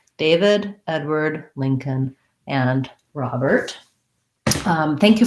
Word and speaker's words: Edward: it that way david edward we have ed the red tent vowel edward first syllables truss as well the w-a-r-d sounds like word edward word like the word